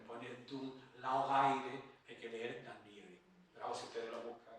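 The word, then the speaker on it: Dún Laoghaire: afueras de Dublín llamado, lo leo tal como se escribe, Dunlaogaire. Llamo Ga porque es GH. Yo sé inglés, pero no sé gaélico. Digo, ¿cómo se pronunciará esto? Eso tengo que explicar a mis alumnos. Llamé a Antonio Rivero y Antonio Rivero me dice, eso se dice Danliari.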